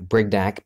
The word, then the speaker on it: Brignac: I said oh it's because my name sound rhymes with Big Mac Brignac Big Mac any one